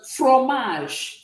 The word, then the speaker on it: fromage: So this E here is going to be silent.